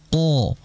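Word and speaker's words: قَ: Q dikala berharakat fathah jangan membaca bidomyafatain dengan memonyongkan kedua bibir contohnya qo Q jangan memonyongkan oo qo tidak karena Q ini pengucapannya tidak ada kaitannya dengan bibir karena jelas di materi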